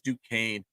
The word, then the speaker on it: Duquesne: I'm going to go with Duquesne or Duquesne or Duquesne, however you want to say it. It is Duquesne pronunciation there.